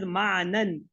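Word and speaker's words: معنى: So if we will see here, this mana, the final ya, which is pronounced as alif, is written alif when a jar or nas pronoun is attached to the word.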